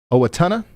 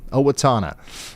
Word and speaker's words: Owatonna: I'm going to guess Owatonna, because I think we're going to be talking about Owatonna some tonight. Owatonna? Yeah, I got it. First try. Owatonna.